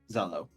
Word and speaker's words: Zelo: and everything and memorizing it how do you spell that region uh z-e-l-o Zello okay yes this is the region that you